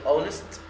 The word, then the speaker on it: honest: هنا كلمة honest تبدأ بالO في الصوت، خلاص، ولذلك بنجيب قبلها an اللي هي بتيجي قبل الحروف المتحركة، وده بسبب ان ال H silent لا تنطق، فبنستخدم هنا an.